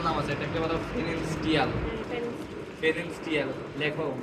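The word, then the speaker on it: Pfannenstiel: আছে, এটাকে বলা হয় ফেরেনস্টিয়াল। লেখো, বানানটা লেখো পি এফ E double N ই এন এস টি আই এ এল, ফেরেনস্টিয়াল, কিন্তু পির উচ্চারণ উচ্চ থাকবে।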